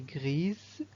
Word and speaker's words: gris: Et finalement, une souris grise, donc le masculin c'est un chat gris. Un chat gris sans prononcer le S.